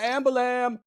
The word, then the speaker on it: ambulance: Somebody call an ambu-lam!" And it's like ambu-lam is how they say it.